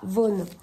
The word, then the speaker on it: Vaughan: s'appelle fragile réputation donc ça s'écrit Sarah Vaughan mais j'ai appris qu'on prononcer Sarah von voilà donc ce roman